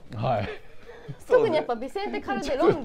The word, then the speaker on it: Calderón: とかさいやあのカルデロンって発音なかなかサッカー知らないできないよカルデロンカルデロンって言っちゃうからねダメですカルデロンカルデロンカルデロンまあまあまあ